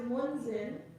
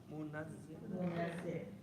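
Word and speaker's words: مُنَزِّل: Okay, so remember not to remove the shadda. So what you have is munzil. We want a shadda in there. To rhyme with mu'allim, منزل munazzil.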